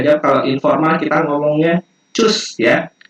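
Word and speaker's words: tschüss: Nah, kita bisa jawab kalau informal kita ngomongnya cus ya. Kayak CUS pelafalannya, cus, tapi tulisannya kayak gini, cus ya, ada umlaut namanya di sini, tanda titik 2.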